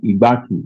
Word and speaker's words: Igbanke: Though it is pronounced as if as if the last letter is I but in written it is E.